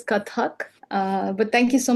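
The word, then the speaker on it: Kathak: Indian classical dance form Katka I'm not sure I've said that right welcome pra welcome thank you uh Rea lovely um that is pronounced as katak uh but thank you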